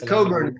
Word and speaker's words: Cockburn: It's Coburn country.